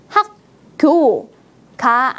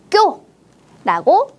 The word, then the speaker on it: 학교: 소리를 만났습니다 어떻게 바뀌어요 학교라는 된 소리로 바뀌어서 발음합니다 학교가 아니고 학교라고 강한 소리로 발음합니다 그럼 이번에도 우리 경음화